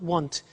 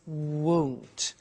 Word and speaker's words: won't: Be careful with the pronunciation. It's not want, it's won't. So the example is, I won't buy it.